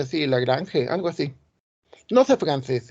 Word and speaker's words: Lagrange: Lagrange, creo que me dicen que se pronuncia así, Lagrange, algo así. No sé francés, ¿eh? Porque creo que era suizo, algo así. Entonces se pronuncia como en francés, pero bueno, nosotros le decimos Lagrange.